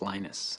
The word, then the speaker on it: Linus: exactly your preferred pronunciation when I speak Swedish when I speak Finnish it he knows when I speak English it's Linus and I really don't